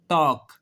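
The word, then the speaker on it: talk: कह रहा है कि अगर एल के बाद एफ आ जाए, एल के बाद एम आ जाए, एल के बाद के आ जाए तो तीनों सूरतों में एल खामोश हो जाता है, साइलेंट हो जाता है।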